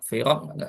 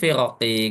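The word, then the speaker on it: الفرق: Bacanya lengkap ya di majelis ini bacanya lengkap firok nggak boleh firok ya firoki gitu tuh.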